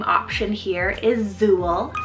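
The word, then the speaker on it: Zule: Another Z name option here is Zool, spelled Z-U-L-E, Zool.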